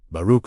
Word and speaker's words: Baruch: Baruch, let each syllable land fully before moving to the next. Feel the vibration of the KH sound at the back of your throat.